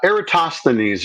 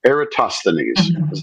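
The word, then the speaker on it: Eratosthenes: Number one, uh, Eratosineses is the way you want to pronounce that. Ersanes, I think, as close as we can get.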